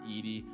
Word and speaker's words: Edey: in pre-recording this video his name is pronounced zack edie not eddie i was misinformed on